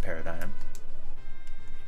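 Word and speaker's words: PRDGM: that's it let's say paradigm know it says PRD GM it's spelled PRD GM but it's pronounced paradigm that's just asking for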